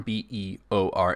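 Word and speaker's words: Bëor: on the screen here notice the two little dots over the E it's pronounced beor it's a name that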